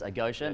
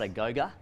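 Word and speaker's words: agoge: it's uh it's a spartan word and you've pronounced it correctly it is a gosha not a goga which we get quite often uh so it's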